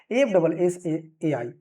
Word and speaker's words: FSSAI: से भी जानते हैं, बट फसाई प्रोनाउंसिएशन सही नहीं होगा, बट ठीक है, बोलने के लिए हम बोल सकते हैं फसाई, लेकिन इसका सही जो उच्चारण होगा वो क्या होगा, FSSAI यानी कि FSSAI, food safety and standard authority of India.